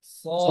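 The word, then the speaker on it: صاد: আজ ইজুস সাসন এবং সদের পার্থক্যটা বুঝতে পারতেছেন সিন সদ এবং সা তিনটার কিন্তু একই রকম উচ্চারণ পার্থক্য হবে কি সিন সদের মাখরাজ একই কিন্তু সিন হবে পাতলা সদ হবে মোটা আর মোটা করার জন্য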